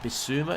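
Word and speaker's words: Bissouma: path or who's that be suma is how you pronounce his name for sulla and he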